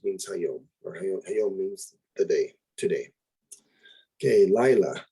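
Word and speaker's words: לילה: the day today okay lila notice the accents on the first syllable here lila means night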